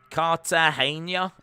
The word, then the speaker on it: Cartagena: Cartagena is how you pronounce it. Cartagena.